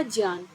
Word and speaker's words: ज्ञान: इसका सही उच्चारण नहीं है इसका सही जो उच्चारण होगा वह होगा ज्ञान अब ज्ञान कैसे है एक बार हम यह